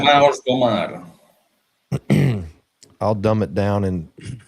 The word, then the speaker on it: Irmãos do Mar: Irmãos do Mar. Irmãos do Mar. I'll dumb it down and where I can pronounce it later.